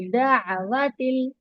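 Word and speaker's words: دعوةٍ: व मिन दावतिल, इसको दावतिल नहीं पढ़ना, दा, आइन की आवाज को प्रोनाउंस करेंगे, इनहेंस करना, आइन को क्लियर पढ़ेंगे, दावतिल।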